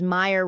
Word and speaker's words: Meyer: It will be easy to remember my name because Meyer rhymes with fire.